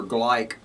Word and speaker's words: Gleick: go over to the guardian today where peter gleick that's how you pronounce this man's name has a has an